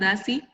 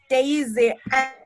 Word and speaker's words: Daisy: Is that how your name is pronounced, Darcy? Please turn your mic on and then tell us your adjective. It's Daisy, and I'm Dazzling Daisy.